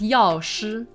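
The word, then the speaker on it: Yaoshi: go over those two the first one is Yash of the abundance path I think it's pretty easy again has that sh with the retroflex and it literally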